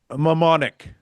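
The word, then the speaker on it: mnemonic: Uh Mike Mmonic. It's a PN. I know. Yes, it is. It's actually pronounced pneumonic.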